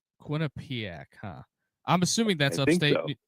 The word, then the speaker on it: Quinnipiac: But, uh, the Johnny's are up 60 to nothing on Quinn Panic. Quinnipic. Yeah. Or I think I pronounced it right, but Quinn Panic. Yeah. No. Quinnipic. Quinnipiac.